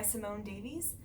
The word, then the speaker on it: Simone Davies: So my first and favorite one is by far The Montessori Toddler by Simone Davies.